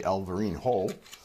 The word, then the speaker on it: Alvarinho: The Portuguese is pronounced a bit differently, Alvarinho.